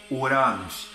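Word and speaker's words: οὐρανός: céu é shamaim já no grego e a pronúncia da palavra céu é Uranos Missionário O que é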